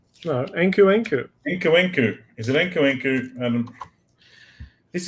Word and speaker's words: Nkunku: Can you pronounce his name as Nkunku? Nkunku. Nunu. Nunu? No, Nkunku.